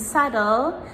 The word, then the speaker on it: subtle: like debt, doubt, and subtle, the B comes before letter T. So we pronounce the T, but we do not pronounce the B.